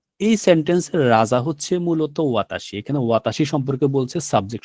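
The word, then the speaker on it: は: আমরা এখানে দেখেছি দেখেন ওয়াতাসি তার মানে হচ্ছে ওয়াতাসি নিজের একটা নিজস্ব শব্দ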